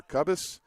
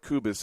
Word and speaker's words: Kubis: believe that is uh pronouncing uh kubis kuu B- as or cubus I believe kubis is the correct pronunciation of that she is the pitcher